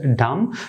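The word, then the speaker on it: damn: দেওয়া থাকে তাহলে আপনারা এন অনুচ্ছারিত রাখবেন এন অনুচ্ছারিত করে বাকি ওয়ার্ডগুলোর উচ্চারণটি আপনারা করবেন তো সেই সুবাদে আমি এখানে যে দুইটি ওয়ার্ড লিখেছি তো সেই দুইটি ওয়ার্ডের সঠিক উচ্চারণ হবে সোলেম তারপর হচ্ছে ডাম দ্বিতীয় স্টেপেও আপনাদের সাথে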